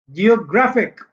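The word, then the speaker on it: geographic: जैसे आप देखें ग्राफिक, ग्राफिक, एक से पहले वाला जो है ग्रैप, ये स्ट्रेस्ड है. जियोग्राफिक, यहाँ पे तीन सिलेबल आगे, एक दो तीन, तो यहां से दूसरा ये है.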